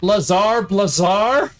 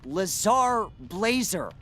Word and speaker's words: Lazar Blazer: No, it's Lazar Blazer. I don't know why people have a problem with that. Well, because it looks like it should rhyme. So, if we say Lazar, we want to say Blazar. And if we say if you want us to say Blazer, we want to say laser blazer.